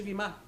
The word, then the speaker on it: bema: Se escribe B-E-M-A. Pero siempre se dice Bima. Pero en todos los textos que yo estudio sale como Bema.